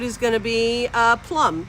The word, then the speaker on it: Plum: and the code is going to be uh plum p-l-u-m as in the way every English teacher throughout my entire grade school in high school has mispronounced my last name and the thing is is it's literally a word plume is a word how do you go Plum I'm like you're the